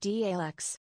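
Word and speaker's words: Daleks: It's pronounced DALUX.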